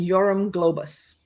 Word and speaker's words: Yoram Globus: And I'm going to let Lacy uh properly pronounce these names. Ah, okay. So, it's Manakahim Golan and Yorum Globus.